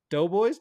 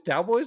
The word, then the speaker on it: Doughboys: Doughboys? Dowboys? I don't freaking know. It's How do a you- joke on the Dallas Cowboys, so it's pronounced the same way.